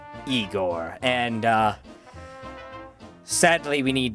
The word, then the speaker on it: Igor: helper, if you will, Igore, I believe his name is. Uh, it's pronounced Eigor.